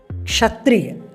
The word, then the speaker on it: क्षत्रिय: वह गायब हो गया दरअसल क् जो अक्षर है कक्षा का क् जो अक्षर है वो क और श से मिलकर बनता है क प्लस श इक्वल टू क् इसलिए उसका उच्चारण में क और क् दोनों का उच्चारण होता है जैसे क्षमा क्षत्रिय कक्षा